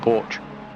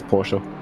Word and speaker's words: Porsche: car sorry porsche sorry for years i've been calling it porch yeah which is the front of the house over here the most of the english speaking person's called porsche but in germany you pronounce the e roof and then it's porsche i think the